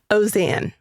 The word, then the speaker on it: Auzenne: Auzenne. Auzenne. Auzenne. What's the origin of that? It is French. French. That is why you have all of those vowels that don't seem to make sense.